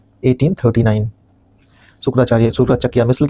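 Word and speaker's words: सुकरचकिया: पे डिस्कस किया हमने और शुक्राचार्य शुक्राचकिया कहते हैं इसको शुक्राचकिया यहां पे स्पेलिंग शायद मिस्टेक हो गया थोड़ा मुझसे मिल के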